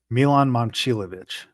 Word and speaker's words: Momcilovic: Milan Momcilovic. I There you go. apologize. That's the pronunciation.